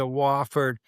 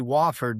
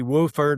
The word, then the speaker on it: Wofford: Uh, we we laugh, uh, people do know how to say Wofford now. Back in my day, when I was in college there, you got outside the area, they couldn't pronounce Wofford. It'd be Wooford or something like that.